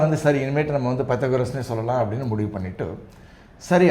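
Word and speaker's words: Πυθαγόρας: அவர் வந்து ஸ்டைலாக பித்தகோரே அப்படின்னார். அதை வந்து நான் கிளாஸில் வந்து சொன்னேன்னா பசங்க சிரிக்க ஆரம்பிச்சிடுவாங்க, கேலி பண்ணிவிடுவாங்க. அதனால் வந்து சரி, இனிமேட்டு நம்ம வந்து பைத்தகோரஸ்னே சொல்லலாம் அப்படின்னு முடிவு பண்ணிவிட்டு, சரி ஐசோசலிஸ் எப்படி ப்ரொனவுன்ஸ் பண்ணுறதுன்னு அவர்கிட்ட கேட்டேன்.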